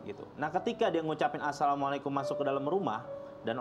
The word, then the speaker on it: assalamualaikum: apalagi orang-orang kita nih kalau masuk rumah samikum bahasanya kan mikum gitu. Padahal salah dalam pengucapannya dia. Ketika dia masuk ke rumah dia ucapkan bismillah terus dia bilang assalamualaikum.